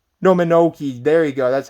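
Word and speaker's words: Mononoke: it yet princess minogue haven't seen monoka i believe that's how you say it no menoki there you go that's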